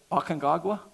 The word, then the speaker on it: Aconcagua: Aconcagua?